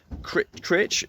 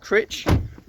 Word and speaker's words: Crich: Obviously had breakfast as you saw, and we're going to the Crich. How do you say it? Crich.